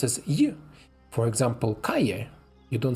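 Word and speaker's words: Cali: to it um Double L in Spanish is pronounced as you for example Kaye you don't say kale so like Street kale is the city in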